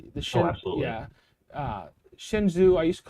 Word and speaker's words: Shenzhou: it's like the yeah shenzhou i used to call it shinzo but it's shenzhou and uh yeah and